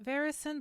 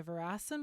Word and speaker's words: Veracen: I am going to change the pronunciation to the veracen blade because it makes more sense because the name verasin is based on the word veracity having to do with truth.